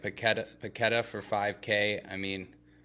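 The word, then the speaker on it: Paquetá: I gotta point out it's not paqueta it's paquetta uh yeah I've been saying that wrong but notice it after after a recent game that he also has an accent on the A on the second a so we've been saying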